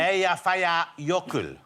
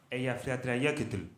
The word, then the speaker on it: Eyjafjallajökull: How do you think it should be pronounced, Jonathan? Eyjafjallajökull. Let's hear it. Eyjafjallajökull.